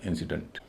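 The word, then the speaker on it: incident: इसीलिए डी एन टी का यहां उच्चारण भाई डंट होगा। डेंट नहीं होगा। इसको बोला जाएगा इंसिडेंट।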